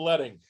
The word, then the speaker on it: leading: All right, let's talk about leading. Leading rhymes with wedding is the space between lines of text, and also known as line spacing.